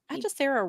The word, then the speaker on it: Hechicero: He pronounces the H in there, and I can't tell